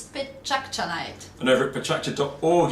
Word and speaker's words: Pecha: It's actually the sound of chit-chat in Japanese, as in Pecha, Pecha, Pecha.